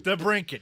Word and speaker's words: DeBrincat: DeBrincat.